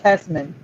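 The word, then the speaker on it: Hesseman: the screen and it's specimen now it's still pronounced hesmen but i do not remember the e the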